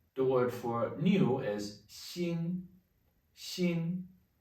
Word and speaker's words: 新: The word for new is 新,新. Same pronunciation as heart. 新, it's only a different character.